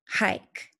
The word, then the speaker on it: hike: try hike let's see does it have the vowel consonant a pattern I see a vowel K is a consonant and an e e is silent and it's making the I say its name Mike Kate and